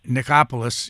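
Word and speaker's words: Nichopoulos: was so specific that Dr uh nikopolis is that the way you pronounce it yes and who was Dr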